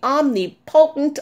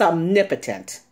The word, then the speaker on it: omnipotent: hear you are the omnipotent of all well first of all that's not even how you pronounce this word it's omnipotent and you would never refer